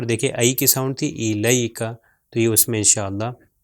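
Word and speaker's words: إليك: پاس ہے وہ ہے الیک. الیک. لام کے اوپر زبر اور یہ اگلا یہ جو ہے اس کے اوپر سکون ہے تو یا ساکن ہے تو اس کا تلفظ لئی ہوگا الیک.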